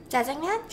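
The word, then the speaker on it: 짜장면: Jjajangmyeon?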